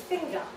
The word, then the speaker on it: finger: unfortunately not my own, this word is produced without its word final R. So I will do my best received pronunciation. It's finger. Okay, so we don't, in most accents in British English, pronounce word final R's.